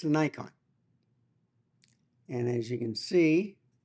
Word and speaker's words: Nikon: And I should say Nikon. That's how you pronounce it.